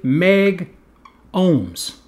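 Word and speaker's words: megohms: So then they said, okay, what we'll do is we'll drop the A, and we will just say meg ohms.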